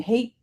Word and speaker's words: Haidt: Haidt? Jonathan Haidt.